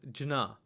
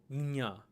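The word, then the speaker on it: ज्ञ: So the proper pronunciation is the palate kind of swiping outwards with a slight nasal aftertone to get gnya, gnya, gnya.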